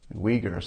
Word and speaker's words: Uyghur: Uyghurs, okay, thank you.